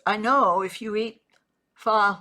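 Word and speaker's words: phở: Pho. I'm not sure how you say it. It's not pho, but it's spelled Pho.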